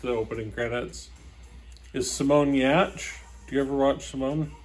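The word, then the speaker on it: Giertz: swedish so it's about g-i-e-r-t-z but it's pronounced yatch i think i'm gonna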